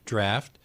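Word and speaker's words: draught: roll-off we don't know what about the AU ght words like DRA ugh which is pronounced draft but doesn't rhyme with taught or caught no it doesn't but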